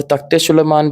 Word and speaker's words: तख्ते सुलेमान: और तख्ते सुलेमान बीजेपी 2000 जब 16 में मंत्री थे उन्होंने भी कश्मीर इसको तख्ते सुलेमान की तरह प्रोनाउंस किया।